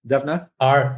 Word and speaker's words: Devnath: Devnath. Devnath.